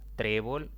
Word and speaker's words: trébol: hay otra palabra trébol trébol es una palabra de dos sílabas la mayor intensidad cae en la penúltima sílaba como no termina ni en n ni en este ni en vocal sino más bien en otra consonante en este caso la l debo colocarle tilde aquí hay otra palabra